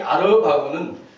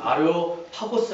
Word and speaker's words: 아레오파고스: 언덕이라고 했습니다 아레오바고 합니다이 아레오바고 정확한 발음으로는 아레오파고스 합니다이 아레오파고스이 아크로폴리스는 큰 언덕에서